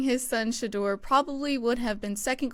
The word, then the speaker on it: Shedeur: We're going to be covering Deion Sanders, saying his son, I learned how to pronounce this, and then I forgot. Can you enlighten me? Shedeur.